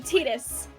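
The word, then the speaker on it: Tidus: mhm I guess the original voice actor pronounced it as tetus as well yeah so therefore it's tetus yeah son of a all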